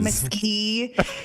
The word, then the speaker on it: Comeski: Comeski is how Dara tells me I should be pronouncing it.